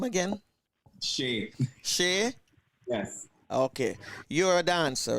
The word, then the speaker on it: Shea: performance i don't want to pronounce the gentleman name wrong what's your name again shave shay yes okay you're a dancer right and have